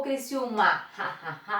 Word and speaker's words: Criciúma: Criciúma ou Criciúma? É Criciúma. Essa é a sílaba mais forte.